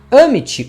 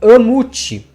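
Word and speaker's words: Ammit: Amit ou Amut também, as 2 pronúncias estão corretas.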